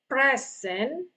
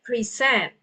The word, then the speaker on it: present: Okay, so instead of present, we pronounce that as present, to present.